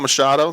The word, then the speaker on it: Machado: Scott Machado. Did I pronounce that right, Scott? You did. Scott Machado, guys.